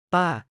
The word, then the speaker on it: ป้า: น้า น้า น้า ป้า Pronounced like pa.